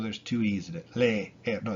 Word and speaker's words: leer: Like the verb to read, leer, leer. It's e, leer, leer. It's not le, er, even though there's two e's in it. Le, er.